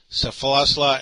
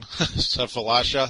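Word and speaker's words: Sefolosha: Lots of team options with Tyrese Thomas, Joakim Noah, Safalasla, and Cedric Simmons. I can't say his name. Safalasha.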